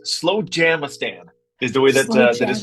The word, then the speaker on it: Slowjamastan: It's Slowjamastan is the way that is pronounced.